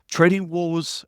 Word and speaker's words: TradingWarz: help the ibkr community SO trading Wars is spelled with a z at the end right Richard yes sir tell